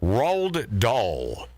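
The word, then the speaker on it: Roald Dahl: I've always had a problem with his name rolled doll r-o-a-l-d now does does anyone know who that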